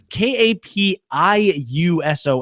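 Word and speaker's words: Kapiushon: how they try to define how to friggin' pronounce this episode. It's Kapiuson.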